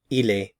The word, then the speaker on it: il est: is so he is el el he is El he is El notice we're not pronouncing the con at the end of the verb form here el el he